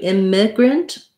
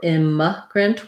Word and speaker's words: immigrant: question about immigrant migrant has first syllable stress so it sounds like the word in but with an m m um and then so you can either do immigrant with an if sound or imma grant with a schwa sound i think i use